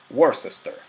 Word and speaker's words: Worcester: En castellano lo pronunciamos en general Worcester.